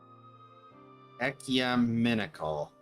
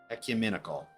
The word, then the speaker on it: ecumenical: I'm looking at the actual dictionary pronunciation. Ecumenical. Ecumenical.